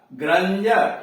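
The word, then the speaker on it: grandeur: फिर ध्यान से सुनिए, जब किसी वर्ड में डी के पहले एक से अधिक लेटर्स हो, अक्षर हो, और डी के बाद EUR, IER, UA, URE हो तो डी का उच्चारण ज होता है, ड नहीं होता है।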